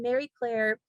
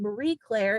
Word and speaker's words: Marie Claire: pitching it out and mary claire which i mispronounced my whole life saying marie claire it's it's very clear and so um that